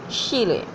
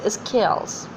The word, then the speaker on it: Scheele: or the local way Scheele, but the exact or the actual pronunciation is scales.